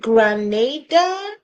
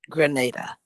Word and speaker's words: Grenada: Now the ladies in Canada is how do you pronounce there? Is it Granada? Grenada.